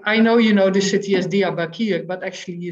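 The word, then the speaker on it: Diyarbakır: Or the city where I lived was Diyarbakir, but many Dutch people say Diyarbakir. That's really not the name of the city.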